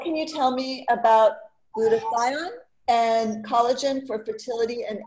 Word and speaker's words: glutathione: Our next question is, what can you tell me about glutathione and collagen for fertility and egg health? Sorry if I didn't pronounce Are you saying lutein? Glutathione.